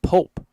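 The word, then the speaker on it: Popp: Again, it's spelled P-O-P-P for the Appleton Double Days player, but pronounced Pope.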